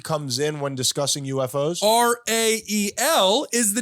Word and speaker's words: Rael: R-A-E-L is the name of the prophet, Rael. And he got his name because Rael is the second syllable of Israel, Ryan.